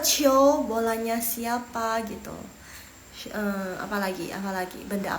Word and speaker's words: 球: 球 bacanya 球 harusnya kalian bisa tulis harusnya. 对了 oh iya 谢谢 kalian 对球第二声球 oke.